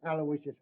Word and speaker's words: Aloysius: Terrence Aloysius Hogan.